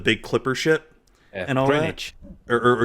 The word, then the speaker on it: Greenwich: The big clipper ship and all Greenwich. that. Or it's Greenwich. Okay. You said it as it should be, as it's spelled.